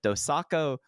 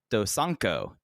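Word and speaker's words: Dosanko: Asian and then the dosaco um let me pronounce that again dosanco Derby six-man tag team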